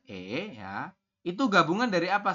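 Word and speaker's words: 애: Tulisan latinnya adalah AE, dibacanya adalah E ya.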